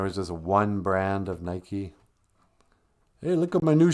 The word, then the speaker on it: Nike: just one brand of nike hey look at my new shoes they're white with a red swoosh they call them nikes you mean nike uh what oh sorry